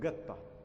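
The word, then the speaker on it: قطة: Aswan, you'll find that any Q is pronounced G. Like if we have the word, let's say, qatta means cat, they call it gatta.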